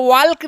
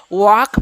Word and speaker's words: walk: Okay, आगे जैसे वॉक होगा WALK, इसको वॉल्क नहीं पढ़िएगा, क्या पढ़िएगा वॉक पढ़िए, क्या पढ़िएगा वॉक पढ़िएगा।